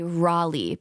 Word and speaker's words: Raleigh: And I'm like, all right, Kelsey, buckle up to say Raleigh, because that's the right way to say it. Even though my entire Really? life, everyone here in Cleveland area says Raleigh. Okay, we say Raleigh, North Carolina.